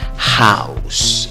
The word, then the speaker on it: house: pronuncia con cuatro sonidos se escribe con una o pero la pronunciación es como una a lleva una u si lleva un out entonces te sale como el sonido una comuna w ao cómo pronunciar la palabra house esa h suena como j house y acabasen s palabra